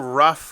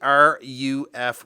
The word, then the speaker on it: RUF: So when I was first introduced to the brand, I was calling them RUF Watches. It's actually RUF Watches, and excuse my pronunciation, but that's short for Royce Urn Fabric.